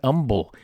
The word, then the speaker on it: Humble: pronounced just like that humble not humble like i pronounced it the h is silent humble so welcome to